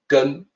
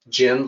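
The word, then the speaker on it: 根: that it's shenzhen well it's actually gun the second sound is not gen like generation more it's actually it's closer to to gun gun no no exact equivalent in english pronunciation so literally the two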